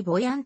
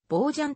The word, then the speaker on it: Bojan: 所属ポジションは fw ボージャンのほかにボヤンとも表記されいるが出身地のカタルーニャ地方ではボージャンという発音が最も近い同名の父ボー